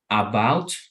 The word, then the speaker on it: about: So instead of saying about, right, we say wow, wow, right? And many people, I'm sorry. Yeah, many people even don't even pronounce the A.